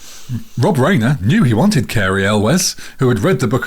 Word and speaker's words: Cary Elwes: I'm saying Carrie El Carrie Elves. Carrie Elwiz because that's right.